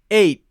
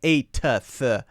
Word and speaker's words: eighth: ew g th eighth so it goes it stops eight don't say eight just eight and stop it eight and then move your tongue forward to the th position eight eight eight so not 8f that's strange that's bad that's wrong it's not good eight eight and practice